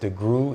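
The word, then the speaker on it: DeGruy: the world postraumatic slave syndrome by Dr Joy degu she is a black psychologist um her name is pronounced deu it looks like de gruy so it is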